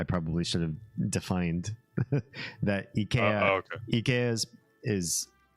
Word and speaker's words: IKEA: is there a better more correct way to pronounce it I will say that I say Ikea in the US even though I speak Swedish and I know it should be pronounced EA because it rhymes with E and that was